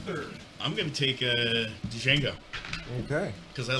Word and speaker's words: Django: I'm going to take Django. Okay. Because I like shooting people. The Django, huh? It's just... I'm going to get you. Hey, Big Tex, D is silent, sir.